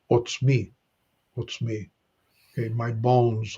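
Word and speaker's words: עָצְמִי: a comet's hatuf so it's an o a short o sound so we pronounce what's me what's me okay my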